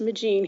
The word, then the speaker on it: Migeon: I'm the great-granddaughter of Jean-Baptiste Migeon on my father's side, pronounced John the Baptist Magine, here in America, where he came to work in the coal mines, and later my grandfather, Francois Migeon.